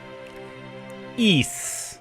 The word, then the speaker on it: Ys: to if you didn't know how this is pronounced I wouldn't blame you E 10 nordics the latest in the E Series which is a very old series I'm